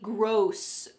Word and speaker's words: gross: Make sure that you pronounce this word correctly, gross, gross.